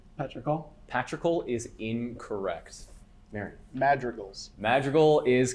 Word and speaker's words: Madrigal: Patrical. Can you say it again? Patrical. Patrical is incorrect. Marion. Madrigals.